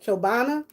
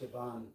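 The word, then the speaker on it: Chobani: Chobana. Is it Chobana? It's Chabani.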